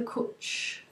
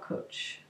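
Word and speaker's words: Cwtch: where Crafts from the Kutch. No, how do you say it? Yes, not Kutch, Kut. It's Welsh.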